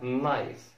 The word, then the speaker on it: knife: حرف ال K من المعروف إن ال KN في بداية الكلمة K لا ينطق. KN في بداية الكلمة ال K لا ينطق. ومن الأمثلة المشهورة جدا هي كلمة سكينة knife. Knife, knife. ما نقولش knife.